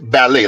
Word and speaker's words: Ballet: His name is actually Leve Ballet, like the ballet dancers.